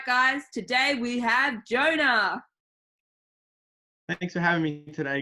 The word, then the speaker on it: Jonah: He's from the Old Testament, he hates swimming, and his name rhymes with loner. That's right, guys, today we have Jonah.